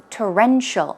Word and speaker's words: torrential: so the pronunciation is torrential stress goes on the second syllable and some synonyms are